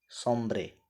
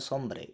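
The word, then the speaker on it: sombre: तो देखिए, सोम्ब्रे, इसे बोलते हैं सोम्ब्रे, इसका उच्चारण क्या होता है, सोम्ब्रे। वैसे लोग इसे सोम्बरी कहते हैं, सोम्ब्रे।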